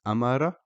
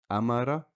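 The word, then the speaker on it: أمر: So the first example is Amara, which means ordered. Amara. Here, the Hamza is carrying a fatha, which makes a, so that's all we pronounce. Amara.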